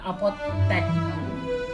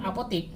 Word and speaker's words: apotek: Kasus yang sama juga terjadi pada kata apotek. Ada seseorang yang bilang apotik, seharusnya nih yang disampaikan itu adalah apotek, bukan apotik.